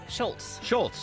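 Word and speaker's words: Scholz: Deborah, am I mispronouncing his name? Tom Schultz? Schultz, all right.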